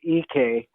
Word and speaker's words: Ike: everyone does it's pronounced ek ek well it's spelled ike but it's ek i think what people